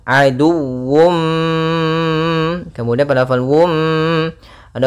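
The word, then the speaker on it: عدو: Nah, di sini harus dibaca juga dengan sempurna wya dengan tasydid. Aduwum. Aduwum.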